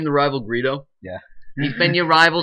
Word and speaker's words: Greedo: It's Greedo too. Yeah, it's too. It's like the word greed. You know, Greedo rhymes with Speedo.